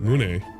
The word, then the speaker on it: Mune: Mune. Not Mune. There's no Y.